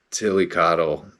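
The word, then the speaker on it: Tliltocatl: t o c a TL I say Tilly cotle and that just looks so wrong by the way it's it's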